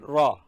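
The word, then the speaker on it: ر: Then Ra. Ra is this. This is Ra. And see, I have mentioned here it is hard, which means it says Ra. In Ra, sound should be pronounced hard.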